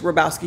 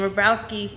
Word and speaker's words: Hrobowski: houston as well and rabrowski is h-r-o-b-o-w-s-k-i houston and no dash it's all one word oh it is okay and the h is silent in case you want to say it because i've been trying